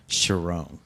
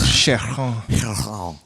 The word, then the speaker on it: Charron: Oh, okay, Sharon. I thought it was Charron. But if you go back enough into the old French name, like, yeah.